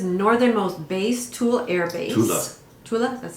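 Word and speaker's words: Thule: Tula, that's how you say it.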